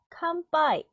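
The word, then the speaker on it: かんぱい: 칸빠이. 응 뒤에 오는 것도 약간 된소리처럼 발음이 되는 경향이 있는데 모든 단어가 그런 건 아니에요.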